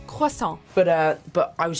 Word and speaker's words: croissant: Tom we get that this French pastry is tough to pronounce but of all the possible ways to say it croissant is not one of them try it with us costal but uh but I